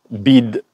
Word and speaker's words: BYD: Voilà, toute la gamme BYD, BID pour ceux qui ne savent pas le prononcer, qui a été introduite ce matin au Maroc.